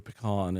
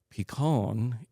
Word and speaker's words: Picon: The reason it's called a Picon Punch, and a lot of people will hear pecan and think of the nut. It's spelled differently. It's Picon, and that is kind of an interesting story in itself.